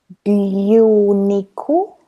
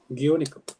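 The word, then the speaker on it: 牛肉: So how do you pronounce this? Gyuniku. Gyuniku.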